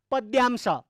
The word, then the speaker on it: पद्यांश: त्यो पद्यको अंश भएर पद्यांश। गलत उच्चारण गर्नु हुँदैन त्यसको, पद्यांश, द खुट्टा काटेको द, यो पद्यांश।